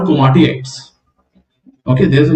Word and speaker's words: komatiites: It is usually ultramafic in nature, and the name is komatiites. Komatiites. So the name pronunciation is komatiites. ठीक है, तो दो आई है ना उसमें, कोमाटी बोलो फिर आइट्स बोलो.